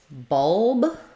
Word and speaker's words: bulb: okay um and um question for the word bulb um B we have awah here so it's going to be very similar how it looks in the dictionary um I would build this from that dark l so trying o keep